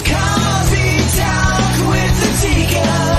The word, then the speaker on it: ADIKA: It's Coffee Talk with ADIKA. Nothing rhymes with that but chicken tikka.